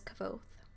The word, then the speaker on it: Kvothe: My name is Kvothe, pronounced nearly the same as Quoth.